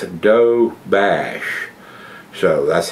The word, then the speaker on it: Doberge: find out it's a doe bash so that's how it's pronounced it says it's d-o-b-e-r-d but it's pronounced doe bash so b-e-r-g-e is bash okay don't you just